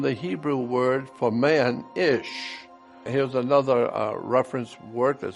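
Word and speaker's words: אִישׁ: Hebrew word for man, ish. Here's another reference work that said, interesting, the words for man and woman in Hebrew is identical. Man in Hebrew is pronounced ish and looks like this.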